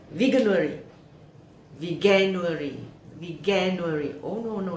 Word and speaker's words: Veganuary: me it's like veganuri veganuary we can worry oh no no no i get it it's like january so it's a vegan worry aha my first learning